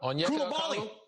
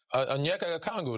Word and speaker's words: Onyeka Okongwu: Pronounce that for me, Geeter. Yeah. Huh? Onyeka Okongwu. Onyeka Okongwu.